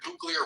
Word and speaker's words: nuclear: No, I guess we're talking about the word about the word nuclear rhymes with clear.